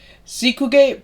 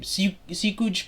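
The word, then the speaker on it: Seekkuge: Sikuge Prasanna, I don't know how to pronounce his name. Sikuj Prasanna, he's an example of this.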